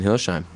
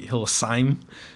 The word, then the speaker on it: Hillesheim: And today we're talking with Dina Nord and Hilsheim. Am I saying that correct? Yes. Yeah. It's actually, my dad tells me it's actually Hillesheim, Yeah. Yeah. because it's German.